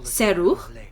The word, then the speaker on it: Serroux: I am of Serroux, foremost Well, that's how you say it, Serroux.